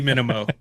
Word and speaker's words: Minimo: Minimo is like the slimmed down version, but see, now I know it's got to be Minimo because the other one was Maximo. It's got to be Minimo. You pronounced it correctly.